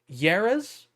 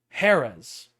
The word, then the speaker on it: Jerez: oh my god jerez no this is spanish yeras how the does what is